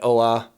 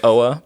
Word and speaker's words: Oa: where he is, planet Oa. Uh pronunciation. That's pretty right. Okay. Pretty right. I think most people say Oa but you're you're saying it essentially the same.